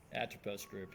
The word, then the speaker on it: Atropos: I keep fucking butchering this. Not Atropos Group. How do you say it? Atropos? Atropos Group, yeah. Atropos Group. Atropos Group is the company.